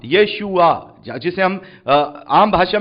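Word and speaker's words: ישוע: उनका नाम लिखा है जीसस भले ही इंग्लिश में जीसस नहीं है हिब्रू भाषा में वो यशुआ है तो जब प्रभु यीशु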